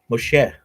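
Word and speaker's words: משה: In Hebrew it's pronounced Moshe.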